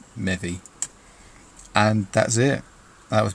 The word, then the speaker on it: Mevi: So I then changed the E to an I to have the same pronunciation, but a spelling that people could recognise as Mevi.